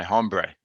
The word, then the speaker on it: hombre: And I'm here with my buddy, my pal, my hombre, Chris. Hombre? Did you take Spanish in high school? Hombre. No. Oh, that's why you're pronouncing the H.